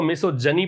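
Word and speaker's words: misogyny: यहां से स्टार्ट किया मिसोजनी, इसको मिसोजनी पढ़ते हैं, प्रोनाउंसिएशन ध्यान रखिएगा।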